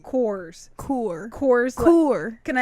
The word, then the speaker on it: Coors: need a drink I'm gonna get me a cures and they're like what a Coors Light like I find that's how you say